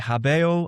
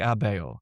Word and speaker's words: habeo: the Roman Empire that people are dropping their hes in Latin that there's this pronouncing whereas once they would have said habo I have they're starting to say things like abbeo and this will of